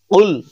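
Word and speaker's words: قُلْ: করার চেষ্টা করুন কুল কুল আমরা অনেকে বলি কুল যদি বলি কুলহু আল্লাহু আহাদ তাহলে অর্থটা বিপরীত হয়ে যায় অর্থাৎ আমাদের উচ্চারণ করতে হবে কুল ধাক্কা দিয়ে কুল আমি যেরকম ভাবে উচ্চারণ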